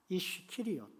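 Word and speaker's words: איש קריות: 그런데 이 가롯 유다를 히브리어로 바꿔보면 이런 발음이 됩니다. 이쉬키리옷.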